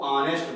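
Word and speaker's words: honest: अब क्या है कि हॉनेस्ट तो शब्द में एच जो है वो कंसोनेंट दिया है, परंतु ये साइलेंट रहता है, यानी ऑनेस्ट को हम ऑनेस्ट को ऑनेस्ट पढ़ा जाता है, ठीक है।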